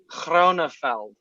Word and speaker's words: Grönefeld: They have the hard G. It's Grönefeld.